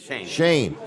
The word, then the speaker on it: Shane: next few weeks, and Sean's going to be the man making things happen. Is that right? Shane, not Sean.